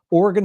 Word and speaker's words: Oregon: about or oron Oregon I know how to pronounce it now Oregon state crash 105 hey